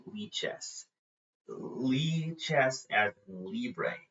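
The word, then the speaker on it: Lichess: It's it's you don't say it lies. It's lies. I need to remember in all my streams to say lie chess.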